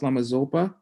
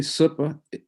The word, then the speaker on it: Zopa: who lama supa is incorrectly pronounced lamazopa that's what his name means if you say zopa it means a spy or something or like an agent apparently if you say super low tone it means the perfection